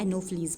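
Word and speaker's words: Anopheles: एल ई एस ई ठीक है ये है एनोफिलीस का स्पेलिंग यहां पे थोड़ा मिस्टेक से लिखा हुआ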